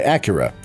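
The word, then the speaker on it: Akira: Whichever choice you make, male or female, your sibling goes by Acura. Yes, that's how they say it in the game, and accompanies you throughout the game.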